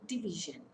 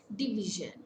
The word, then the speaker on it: division: Take an example, division. Division, it's a three-syllable word. Stress falls on the middle syllable.